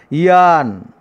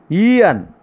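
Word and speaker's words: aeon: The pronunciation is Ian. Ian.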